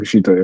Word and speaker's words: Takeshita: Team Briscoe, so Mark Briscoe, Orange Cassidy, Roderick Strong, Kyle O'Reilly, Kensuke Takeshita, is that how you pronounce it? Takeshita, yeah.